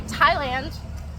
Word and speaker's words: Thailand: same reason you say Thailand instead of thand anytime you see a th only say it as a t and TI they'll put